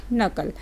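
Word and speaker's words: knuckle: इसको लर्न कर लें कि एन के जस्ट पहले के आ जाए ना तो उसको नहीं बोला जाता, तो के साइलेंट हो जाता है।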